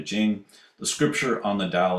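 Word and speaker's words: Ching: way jowls uh romanization but still pronounced Jing the scripture on the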